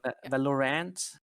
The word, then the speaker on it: Valorant: Is that how you pronounce it? Yeah. Valorant.